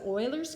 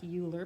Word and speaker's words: Euler: I'd end up with 14 equal 14 so Euler's formula is what it's called I know it looks like Euler but it's pronounced Euler is simply faces plus vertices is